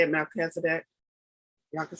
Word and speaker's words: Melchizedek: how to pronounce it Melchizedek pronounced male he's a dick so I guess I